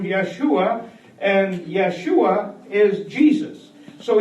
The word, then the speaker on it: Yeshua: Joshua means actually Yeshua, like the same, if you pronounce it in Hebrew, Yeshua, and Yeshua is Jesus.